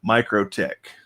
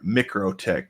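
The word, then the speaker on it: MikroTik: is in development and micro tick or micro tick depending on how you want to pronounce that i've heard it both ways from different people so it's just a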